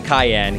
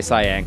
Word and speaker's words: Cyan: I'm going to say Kohlingen, Thamasa, Jidoor, but I'm not going to call Cyan Cayenne. He's going to stay Cyan, because it's a color name, and it's written exactly the same.